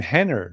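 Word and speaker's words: Renner: there's a gentleman named Henner now Henner I believe is Horan's child I'm laughing because these are all our names they all start with r uh and they're all pronounced with H's right but Hann are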